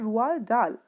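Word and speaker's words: Roald Dahl: how his name is pronounced d of rwaal is silent so rual dal was a british novelist short story writer poet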